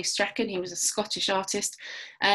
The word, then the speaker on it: Strachan: Douglas Strachan, or Strawn, I've also heard it pronounced, but I think the Scottish say Strachan.